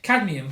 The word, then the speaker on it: cadmium: Cadmium. Cadmium. I never pronounced that.